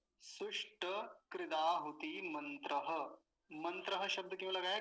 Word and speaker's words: कृदा: दूसरा शब्द देखिए, कृदा, कृदा। अब क्रदा नहीं बोलेंगे, ये क्या है?